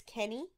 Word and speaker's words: Kenny: Sorry, I keep pronouncing her name as Keane. It's Kenny.